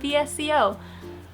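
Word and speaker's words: VSCO: Does anyone else pronounce that app as Visco and not VCO? From the very beginning, I used to say Visco and then I realized that most people said VSO, but Visco. Visco.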